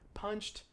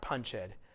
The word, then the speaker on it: punched: way i pronounce it punched actually it looks like you have two vowels in there it looks as if it should be punch head but in fact it's not punch head it's punched yeah there's